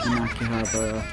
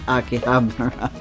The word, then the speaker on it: Akihabara: In Akihabara. Or Akihabara, as I hear so many people say it, but no, it's Akihabara.